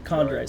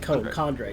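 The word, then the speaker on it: chondrite: Is that how it's pronounced? Condrite. C H O N. Yeah, Condrite. Sorry, I said I said condre.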